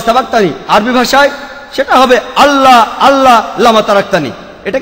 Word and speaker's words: আল্লাহ: সর্বশক্তিমান ঈশ্বরের একটা নাম হলো আল্লাহ, লেখা হয় ILA, কিন্তু উচ্চারণের সময় শব্দটাকে বলা হয় আল্লাহ।